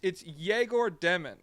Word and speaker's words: Egor Demin: It's EGOR DEMIN, correct? Okay, yes. 8th overall. That's my understanding of the pronunciation, yes.